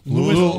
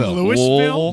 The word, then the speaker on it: Louisville: It's pronounced Louisville. You're from Louisville? Louisville? Let's all get a lesson in the pronunciation of Louisville. Louisville, right? Louisville. Louisville. You try and cram it into one I do a syllable. Lua and a Vol. Louisville.